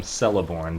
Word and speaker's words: Celeborn: Yeah, a hard Okay, C is in okay. cat, it says. Because I've always called him Celeborn, but I'm sure you've researched this, so that's why I asked. Extensive research, and apparently, here's a little Hard C like a cat.